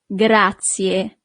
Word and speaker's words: grazie: Thank you is grazie. Grazie. So you really need to pronounce the last letter, I in English, but the letter I in Italian is E.